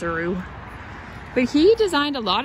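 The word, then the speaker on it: Rugh: architect was hb rue it's spelled r-u-g-h so i don't think it's like rough or anything i'm pretty sure it's a roux but he designed a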